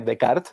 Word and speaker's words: Descartes: llamado a rené descartes rené de kart se pronuncia planteaba ella por acá